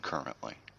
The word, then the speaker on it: currently: You got to learn to pronounce the T on the end of that, not a D. It's not a D. It's just a very flicked T. It happens with the tip of the tongue.